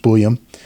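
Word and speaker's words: Buium: He's paired up with rookie Zeev Buyum, who I've been saying his name wrong this whole time. It's just Buyum.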